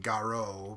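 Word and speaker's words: Garou: G a ro you the U is an extension of the Oh sound in Japanese so it they would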